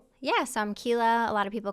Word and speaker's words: Quila: So I'm Kila. A lot of people call me because if you see how my name is spelled, it freaks a lot of people out initially.